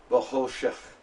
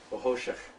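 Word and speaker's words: בְחֹשֶׁךְ: It's Vahoshik. It's actually more like Vahoshech. Okay? Vahoshech. A little bit more guttural.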